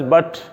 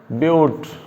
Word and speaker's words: but: probe four carbon but it is not pronounced as but it's pronounced as butte butte so five carbon